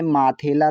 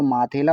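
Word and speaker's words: मिथिला: तो हम इसे पढ़ेंगे माथेला। तो माथेला उच्चारण क्या सही है? ये उच्चारण गलत है। सही उच्चारण मिथेला है।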